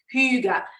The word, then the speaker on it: hygge: hygge and and yes that word hygge is pronounced who you got but we can pronounce